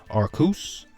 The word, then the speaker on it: Arceus: So I think in this particular format, the two of the strongest like restrictors you could have are Calyrex-Shadow and Arceus. I know it's pronounced Arceus, one of the channel would call him Arceus.